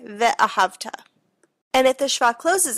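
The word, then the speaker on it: וְאָהַבְתָּ: If the shva comes at the beginning of a syllable, it makes an uh sound, like ve'ahavta.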